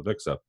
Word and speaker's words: AVIXA: that InfoComm announced as they were transitioning to AVIXA, which is how you say it, was that they were looking to, get more involved in the experience, right?